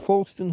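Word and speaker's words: Foulstone: Darfield Fston High School where Fston is spelled fowl stone.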